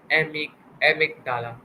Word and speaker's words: amygdala: I think it pronounced it wrong. Its spelling is Amygdala. I think amygdala. Right? You got it.